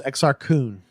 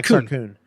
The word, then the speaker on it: Exar Kun: exa r que un which anthony healed who narrated the audio book inexplicably pronounces this exact teen he every time it drove me crazy oh my god about you but I've always heard it pronounced this Exar Kun ya Exar Kun and you know what's